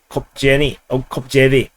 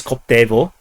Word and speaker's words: Koptevo: MiG-29 shot down over Kopjevy. Actually, it's Koptevo, and but somehow the Ukrainians spelled it in some kind of a wonky, magical way, and it makes it impossible to pronounce in English.